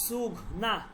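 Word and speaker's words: سونگھنا: এখানে এই নুনটা, মাঝের নুনটা লেখায় আসবে কিন্তু উচ্চারণে আসবে না, হালকা একটু নাকে আসবে, সোঘনা।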